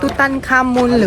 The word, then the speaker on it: Tutankhamun: It can be pronounced two ways: Tutankhamun or Tutankhamen, or KV62.